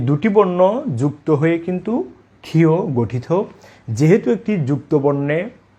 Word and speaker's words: ক্ষ: আসলে এটি কষমালিক্য নয়, এটি হচ্ছে ক্ষিয়। এই বর্ণের শুদ্ধ উচ্চারণ হলো ক্ষিয়।